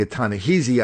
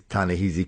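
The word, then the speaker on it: Ta-Nehisi: huh yeah yeah yeah I was pronouncing a ton of heezy I heard people on NPR pronounce it kind of easy but the guy from the Atlantic were Tana he's Tana heezy Coates reminded me it's Tana ah see so we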